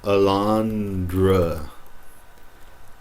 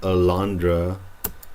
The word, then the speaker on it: alondra: But if you say this word here, some of you might say alondra. Alondra. It's not alondra, it's a lon dra.